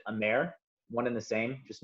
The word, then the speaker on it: amer: Once again, very similar to Averna, just a French-made Amaro, which they pronounce it Amer, one and the same, just meaning bitter.